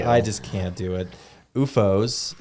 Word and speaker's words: OOFOS: UFOs.